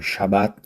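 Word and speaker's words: שבת: No judaísmo, o sábado pronunciado Shabat significa descanso, cessação, repouso ou interrupção.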